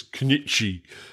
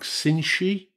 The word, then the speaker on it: Cnchi: Now, I would have pronounced this Cnchi, but I'm reliably informed that it's pronounced something like Cinchi.